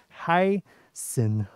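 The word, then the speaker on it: heißen: then you may hear hello lee heiszenzi okay heisen you know the pronunciation is like this yeah hai sin yeah so in english you can translate it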